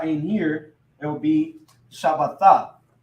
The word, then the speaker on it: Shabbat: Now when they join together, it's ba. It won't be but the. It won't be but the. It's now they join together, and it makes bath. Shabbat, right?